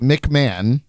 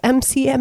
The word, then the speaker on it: McMahon: say man no no oh mcmahon that's how you say mcmahon mick mahone she said it says h-o-n it's mcmahon or whatever his name is man why would it not be mcman a stupid name anyway